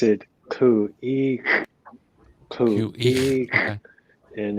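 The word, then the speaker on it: Khu.éex': Yeah, you pronounce it Khu.éex. QE.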